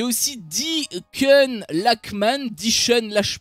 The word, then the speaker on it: Lachman: Il y a aussi Deacon Lachman, je pense que ça se prononce avec un K, mais c'est une actrice qui est, on va dire, une actrice un peu montante.